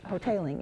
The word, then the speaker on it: Hoteling: Hoteling is the way he pronounces it, John Hoteling II.